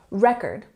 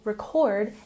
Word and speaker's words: record: For example, record is a noun, and we have the emphasis on the first syllable in the word, record. But if we put the emphasis on the second syllable, record, it becomes a verb.